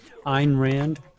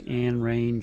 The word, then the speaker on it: Ayn Rand: And I didn't even know how to say her name until a few years ago. Ayn Rand. I thought it was Anne Range or something like that.